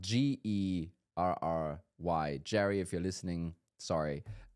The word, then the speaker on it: Gerry: Jack, meaning the G pronounced as a J. I had a funny call yesterday, uh, with a gentleman called Jerry. But, um, you know, spelled G E R R Y.